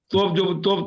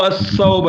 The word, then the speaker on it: الثوب: کیونکہ سا کا تلفظ ہمارے پاس صحیح طور پر نہیں ادا کرتے تو اس کو وہ لوگ تا سے ادا کرتے ہیں. یہاں کے لوگ غلط ہے. وہ الثوب ہے, الثوب, تو اس کو لوگ